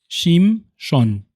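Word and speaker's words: שמשון: Sansón es la españolización, para que no haya dificultades al pronunciar, de un nombre hebreo que es Shimshon.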